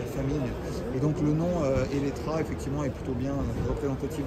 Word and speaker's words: Eletre: effectivement, Eletra, on le prononce avec un A sur le marché français notamment, même si ça s'écrit Elettre, tout simplement parce que